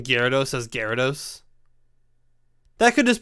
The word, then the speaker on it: Gyarados: Because I definitely don't pronounce the Y as hard as I probably should. Like, some people are like, Gyarados. And I'm like, Gyar. So, it could be an accented thing where, Gyar.